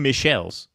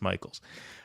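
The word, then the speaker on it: Michels: Tim Michel's, as I like to call him, because Michaels is with an A. Michaels is spelled with an A. He wants to spell it like that. I'll read it the way it's spelled. It's Tim Michel's, even though he says it's Michaels.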